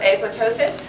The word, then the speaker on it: apoptosis: cells uh cytokinesis nope the second p is silent so apoptosis um Frozen by itself